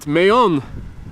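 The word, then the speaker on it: Mahón: Right, Mayon. Now I know how to pronounce it.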